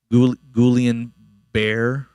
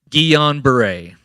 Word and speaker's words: Guillain-Barré: I'm going to mispronounce it. Guillain-Barré. Oh, thank you, Dr. Michaels. One more time. Guillain-Barré.